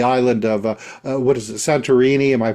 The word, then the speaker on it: Santorini: left of the island of what is it, Santorini? Am I pronouncing that correctly?